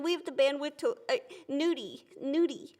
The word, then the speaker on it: gnudi: I'm not pronouncing the G on any of these. You see? Nudie and so is there a G on nudie? Yeah. Gnudi?